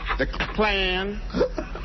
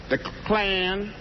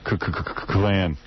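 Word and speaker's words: Klan: name correctly the clan the claim that's how john says it claim oh he thinks kkk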